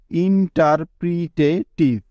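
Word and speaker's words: interpretative: তারপর আছে TIVE, যা হলো একটি ওয়ার্ড প্যাটার্ন, যা উচ্চারণ হয় টিভ এর মতো। সবগুলোকে একসাথে করলে হবে ইন্টারপ্রিটেটিভ।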